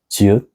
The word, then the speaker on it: 지읒: And this is 지읒, which sounds like J sounds, like 줄 and 잘.